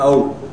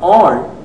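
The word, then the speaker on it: awl: Many people who don't know the exact pronunciation call it the out. It is wrong. It is a WL. The all even though it looks sharp usually is to be blunt.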